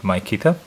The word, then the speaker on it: Mykita: gonna misspell that wrongly, called Mykita. You can call it also Mykita, I guess, but I call it Mykita.